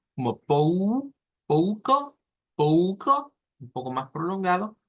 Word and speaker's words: pouco: En cuestión, y vamos a dejar quizás esta pronunciación de esta manera, siendo la sílaba tónica la pou, pou, pouca, pouca.